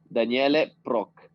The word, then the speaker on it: Daniele Proch: Okay, I just want to make sure I'm pronouncing your name properly again. Daniele? Daniele Proch. Daniele, okay, perfect.